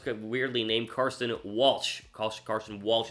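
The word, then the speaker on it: Carson Walch: named Carson Walsh Khalsa Carson Walsh is how you say his name like Carson Wentz but not he is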